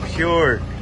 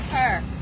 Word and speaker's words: Pure: Shout out to Pure. Purr. Is it Pure or Purr? It's pure. We call it pure.